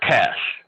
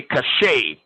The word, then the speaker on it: cache: is referred to as cash um this this word is like cash like money cash right some people say cachet but it's actually cash